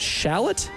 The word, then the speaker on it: Shallotte: uh West Brunswick from not Charlotte is that Shallotte s h a l l o t t